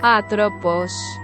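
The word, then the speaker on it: Атропос: от имени древнегреческой богини которая произносится как атропож она была одной из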